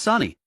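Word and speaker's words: Sunny: Sani was paired with Nashu yelled, "Hurry up, Mommy. You're kind of slow. Let's get air." Soni almost lost it. It's not Mommy, it's Sani. How can you get both syllables wrong when there are only two?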